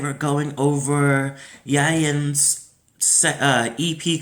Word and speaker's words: Ieuan: It's ieuan, not ieuan or ieuan or whatever I said last time in my other videos.